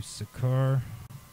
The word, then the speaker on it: Seker: Okay, so now I'm going to do Sekur. It's spelled Seker, capital S at the beginning.